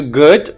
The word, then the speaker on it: good: see saw and then if you want to do good the back should be up your lips should be open so the front would be down if you want to